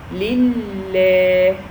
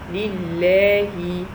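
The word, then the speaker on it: لله: So the first one has a kasra underneath, the second one has shadda, that means sukoon, and the third one has fatha.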